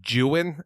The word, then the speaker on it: Don Juan: and finding out that the Don Juan poem is in order for it to rhyme correctly is supposed to be pronounced jewin and I was like well